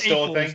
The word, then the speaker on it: AFOL: They used to call us awfuls. AFOLs. AFOLs, yeah. We pronounce it AFOLs now. Yeah, adult fans of Lego.